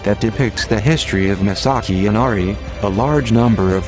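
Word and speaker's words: 真崎: the place named misaki was also written as misaki and pronounced masaki and it became very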